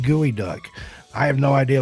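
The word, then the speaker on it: geoduck: And I'm being informed by the chat that it's pronounced gooey duck.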